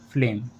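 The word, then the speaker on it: phlegm: letter आ रहा है तो जीएम में हम जी का उच्चारण नहीं करते जैसे पैराडाइम फ्लेम इन वर्ड्स में वर्ड के लास्ट में जी एम लेटर आ रहा है और इन वर्ड्स में जीएम में हमने जी का उच्चारण नहीं किया है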